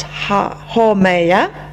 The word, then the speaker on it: Haumea: So you've got Haumea, which is pronounced Haumea.